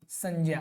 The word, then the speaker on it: संज्ञा: संज्ञा है।